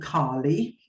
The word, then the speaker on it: Kaali: bit okay so there is an asteroid called Carly um she actually spelled with double a k a l i and